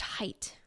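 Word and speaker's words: Haidt: and things like that so it's pronounced height thank you thank you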